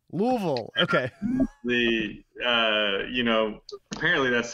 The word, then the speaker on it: Louisville: Yeah, people still say that they know that I'm not from there because I say Louisville, but apparently it's supposed to be two syllables. It's just supposed to be Louisville. Louisville.